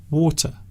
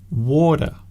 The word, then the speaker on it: water: Well, of course, there are many ways of saying water. So some people say water with the T sound, water. Some people use the D sound, water, water.